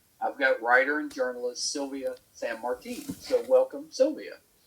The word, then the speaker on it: Silvia San Martín: Did I Did I get somewhere close to pronouncing your name right? It's okay. Sylvia San Martin.